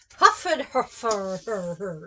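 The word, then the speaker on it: Hfuhruhurr: here no it's just it's spelled just like it sounds i'd be shocked if that was on there yeah h f u h r u h u r r huffed her fur yeah don't wear it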